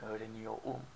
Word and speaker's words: öğreniyorum: So, for the first one and the fourth one, as in for I and we pronounce the R. But for the other ones, we just skip it, okay?